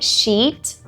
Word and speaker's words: sheet: Tem a expressão clean sheet. Clean sheet. E veja bem essa pronúncia, tá? Sheet. Sheet, que é folha em branco, que é algo bom para os goleiros, é uma expressão para os goleiros.